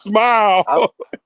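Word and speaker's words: Smael: Hey, look, I said Samel Mondon Jr. Here, I'm ready. It's smile. It's smile like you smiling. It's smile Man, Monday. that shit doesn't say smile.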